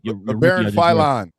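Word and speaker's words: Labaron Philon: So y'all drafted how you pronounce his name? BG. LeBaron Philon.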